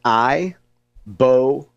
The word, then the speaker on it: ibogaine: It's pronounced it's three syllables. I boame.